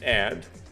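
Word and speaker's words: 의: The kwa particle just means and. Huimang, I presume means hope. And then this we here, which is possessive, but when it's used as possessive, I believe it's pronounced a.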